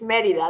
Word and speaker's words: Merida: So I'm on Facebook, Merida. It's spelled, and it's Merida, like you pronounce it correctly. I hear this day. So Merida.